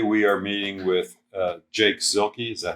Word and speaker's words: Zielke: Today we are meeting with Jake Zielke. Is that how you pronounce it? Mm-hmm. Zielke.